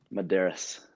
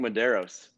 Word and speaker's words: Medeiros: For the last 2 years, everyone's been saying it wrong, and no one knew. Shoot, a lot of people didn't know him before last year, so I mean, when you read it, you think Medeiros, but right.